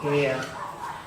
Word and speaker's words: heir: Then air, H-E-I-R, air, H is silent, air, heiress, heirloom.